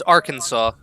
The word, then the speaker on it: Arkansas: because the ends not pronounced the ends not pronounced either Jake its Arkansas right so it beacon saw it would be